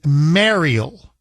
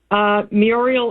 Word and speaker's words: Muriel: He says that your name is Mariel. I say it's Muriel. Who's right, Mike or me? Muriel is the correct pronunciation. It's Mariel. Muriel. It's M-U-R.